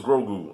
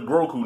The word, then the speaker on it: Grogu: Is it Grogu or Groku? I think it's Grogu. I think that's how you say his name.